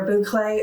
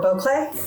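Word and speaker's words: bouclé: I know I looked up a video on how to pronounce this, and it said that you can pronounce it either boucle or boucle.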